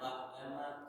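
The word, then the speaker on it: بعدما: Ain kalau mati itu jalekan yang mati memang ain. Ada orang acuk membacanya mirip dengan hamzah. Alhamdulillahilladzi ahyana ba'dama, kalau ba berarti hamzah. Ya, kalau ain itu mati bunyinya ba'dama amatana.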